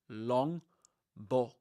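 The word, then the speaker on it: Longbottom: Longbots with a short short O sound. Long Bom.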